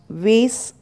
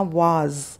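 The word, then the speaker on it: was: अब वेस बोलते हैं, इसे हम बच्चों को भी यही बोलना सिखा देते हैं, तो आपको वेस नहीं बोलना, वाज, वाज, ज का उच्चारण यहाँ पे करना है।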